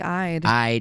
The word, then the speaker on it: Eid: Well, it's actually I'd. Oh, why do I keep thinking it's Eid?